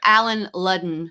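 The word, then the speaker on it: Allen Ludden: We were the Alan Ludden to her Betty White. Is that how you say his name? Alan Ludden.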